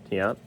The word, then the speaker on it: Tiant: do the Jim Bey Lou tant Tiant it's pronounced in case you're not sure Tiant the Tommy John which looks remarkably similar to